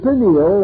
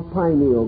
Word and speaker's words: pineal: The pineal or pineal gland, either pronunciation is correct, located in the central part of the brain, still remains the mystery gland of the human body.